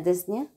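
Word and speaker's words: dyspnea: ابنية ديت معناها breathing، يبقى ديزنيا البي ما بتتنطقش هنا.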